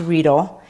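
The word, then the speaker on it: Riedel: they're german they're called ridle almost like needle it's pronounced reedle and these are really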